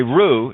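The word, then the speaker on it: roux: rules that are holding you the rules okay ruh is something that you make to be sickened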